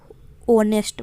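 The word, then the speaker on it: honest: होनेस्ट आप pronounce करके देखिए आपको क्या साइलेंट मिलेगा, ऐसे साइलेंट मिलेगा, ऑनेस्ट बोलते हैं, ऑनेस्ट बोलते हैं ना, ऑनेस्ट करेक्ट प्रोनाउंसिएशन होता है ऑनेस्ट, ऐसे साइलेंट है इस पर।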